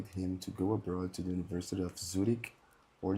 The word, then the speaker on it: Zurich: Could you repeat the pronunciation of these two words, these two universities? Sure thing. It's Zurich. Z U R I C H.